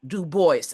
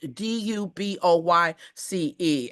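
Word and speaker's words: Du Bois: It is properly pronounced Dubois, as if it were spelled Duboyce.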